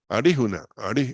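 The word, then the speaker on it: alijuna: es verdad o sea un sonido es como una rl pero con la lengua más hacia atrás la palabra criollo arijuna no Entonces se escribe así pero no no es que quiere decir que vayamos a pronunciar con la l se escribe con esa misma letra pero no se va a pronunciar como como él eso hay que tener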